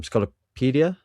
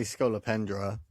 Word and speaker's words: Scolopendra: Um, Scolopedia. Sculpedra. So, who's a scorpion demon? Schol I say Scolopendra. Scolopendra. Okay, we'll go with that.